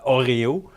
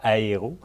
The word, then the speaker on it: Oreo: Ben, on parlait de chapelure Oreo et non de la chapelure de barre de chocolat Aéro. Donc, il faut vraiment Ouais. bien le prononcer.